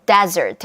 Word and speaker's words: desert: 사막을 뜻하는 desert 같은 경우는 강세가 앞에 음절이 있어요.